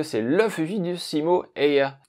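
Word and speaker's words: Häyhä: le fugi du Simo ea oui ça se prononce comme ça en finlandais mais je le tenterai même part donc ce sera Aya en bon français et donc ce bon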